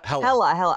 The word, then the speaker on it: Hela: And you know what, just on the Gila thing, is that her name, Gila? Is that how I pronounce it? Hela or Gila? Hela. Oh, I'm dumb.